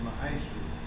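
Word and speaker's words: מעשר: It means 10 in Hebrew. It's pronounced ma'aisha.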